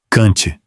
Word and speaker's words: Kant: Kant, curto, aberto, seco. Kant, sem nasalizar. Essa é a armadilha brasileira, porque a nossa tendência é dizer Kant, e o alemão pronuncia o N e o T.